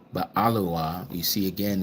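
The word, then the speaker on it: אֱלוֹהַּ: So here H433 again alua not elawa but alua.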